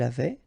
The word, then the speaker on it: avait: avais, il avait, elle avait, nous avions, vous aviez, ils avaient, elles avaient. Okay, so j'avais, final S not pronounced. Tu avais, final S not pronounced. Il avait, final T not pronounced.